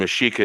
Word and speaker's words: Mexica: Of the 12 tribes of the Aztec, otherwise known as the Mexica people. And Mexica is the real pronunciation of Mexico. With an A.